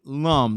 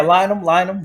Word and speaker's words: Lynum: And on this particular episode, we have the one and only Lum. Did I get that right? Did I pronounce it right? Yeah, Lynum, Lynum. Lyman.